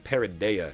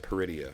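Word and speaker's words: Peridea: I'm going to say I'm going to be saying parida instead of peridia from now on and I know I'm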